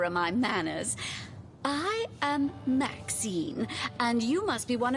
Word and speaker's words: Maxine: Maxine rhymes with queen, after all, and dearest, that is hardly a coincidence.